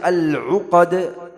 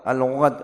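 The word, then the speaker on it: العُقَد: Dan waktu baca al-uqdah, harus menjelaskan huruf ain, al-u, u. Ain, a, i, u. Al-u, q, al-uqdah. Jangan al-gho, ghod, al-ghod, enggak boleh. Karena berubah maknanya.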